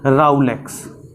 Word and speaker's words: rouleaux: और इस कंपोजिशन को आरबीसी की बोला जाता है राउलेक्स। राउलेक्स। क्या बोल रहे हैं? राउलेक्स।